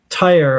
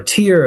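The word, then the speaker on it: Tyre: You've also got the city of Tyer or Tier as they say in Lebanon. That's how they pronounce it.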